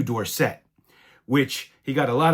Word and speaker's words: Dorsett: Now, when he was in college, his name was Dorsett. Somebody came up to him and mispronounced it Dorsett, and he thought that sounded fancier as he was getting famous. So he changed the pronunciation to Dorsett, which he got a